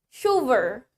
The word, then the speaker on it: chauffeur: The next one we have chauffeur. Chauffeur. Biarpun tulisannya chauffeur, tapi dibacanya chauffeur.